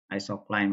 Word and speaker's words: isocline: Kalau bahasa Inggris mungkin apa pengucapannya mungkin nggak isoline ya, tapi isocline mungkin ya.